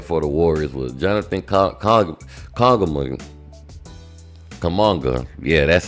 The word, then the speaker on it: Kuminga: But the high man for the Warriors was Jonathan Kuminga.